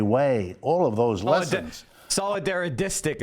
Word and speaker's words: solidaristic: All of those lessons Solidarodistic is how you say that, Professor Wolf. Solidaridistic. It's very hard to say, I know, but that's it's not solidarity way. It's solidaristic are profound and